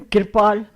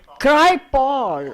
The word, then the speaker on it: Kirpal: I thought it was a proper Punjabi name, Kirpal. So I don't know what this Americanized is, I don't know what this is. Kirpal, Cry-Paul. Oh, I see.